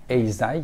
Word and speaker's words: Eisai: Eisai, donc ça se prononce comme ça.